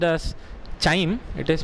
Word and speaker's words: chyme: You can see their spelling, they have given CHYME. It is not pronounced as chyme, it is pronounced as chyme only.